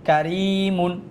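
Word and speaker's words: كَرِيمٌ: তারপর হচ্ছে কাব জবর কা, এটা হচ্ছে হরকতের উচ্চারণ তাড়াতাড়ি, কাব জবর কা। তারপর হচ্ছে র ইয়াজের রি, কারি, মিম দুই পেশ মুন, কারিমুন, কি হবে? কারিমুন।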